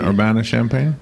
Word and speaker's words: Urbana-Champaign: eight I think it was supposed he's in urbana-champaign yeah I'm saying it right yeah you bet